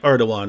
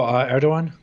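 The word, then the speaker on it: Erdoğan: asked your position on it's spelled erdogan but it's like erdogan right something like that yeah yeah yeah erdogan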